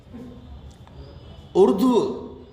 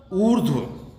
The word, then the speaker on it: ऊर्ध्व: उर्ध्व, उर्ध्व में भी वही गलती करते हैं जो हम ऊर्जा ऊष्मा के साथ करते हैं, ऊर्ध्व।